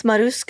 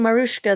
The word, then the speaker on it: Maruska: And it's Maruska. I've been saying Marushka this whole time.